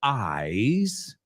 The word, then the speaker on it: eyes: So eyes rhymes with surprise. Close your eyes. I have a surprise. I tell you no lies.